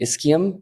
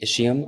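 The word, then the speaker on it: ischium: a pretty interesting structure you got the the isum or the isum I've heard both pronunciations either is fine there's the posterior and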